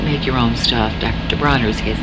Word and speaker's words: Bronner's: Bonners was not, Bronner, how do you say his name? Bronner's was not that bad.